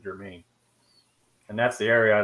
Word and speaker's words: Germain: It looks like it's spelled almost like German, but has an extra N at the end of it, makes it Germain.